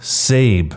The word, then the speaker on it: Sabe: changed my name to sabe pronounced like abe but with an s the process was pretty